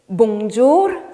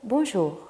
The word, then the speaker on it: bonjour: 근데 보통 사람들이 불어 엄청 어렵다고 생각하기 때문에 되게 Bonjour 이렇게 말하려고 해요. 근데 솔직히 그냥 부드럽게 하시면 누구나 할 수 있는 불어예요. 그래서 Bonjour 말고 Bonjour. 발음이 거의 안 나와요. 이럴 때 이렇게 하시면은 훨씬 더 자연스럽고 훨씬 더 부드럽고 더 쉬울 거예요.